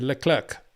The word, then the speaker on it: Leclerc: said to Charlotte Clark how do you like your name pronounced charl and he said Le Clerk so end the story again I get a bit wound up about that because you know these people you think you pronounce every word but correctly it is Le clerk not the clerk don't confusing with Michelle